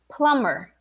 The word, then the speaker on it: plumber: you're making the mistake so it's not plumber plumber plumber you don't pronounce the b you pronounce repeat with me plumber plumber plumber yeah so the m b in english every time you have the m b uh you're not gonna pronounce the b like climb plumber uh what else there